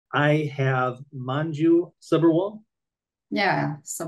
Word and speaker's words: Subberwal: I have Manju Subberwal. Yeah, so Subberwal. All right, great. yeah. I'm glad that I was able to pronounce it correctly.